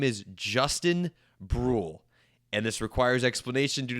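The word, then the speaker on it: Bruihl: It's pronounced BRL like uh like grl except for with a B. I saw that in an article. That is how it is indeed pronounced. And Brule seems like an interesting piece for the Cardinals.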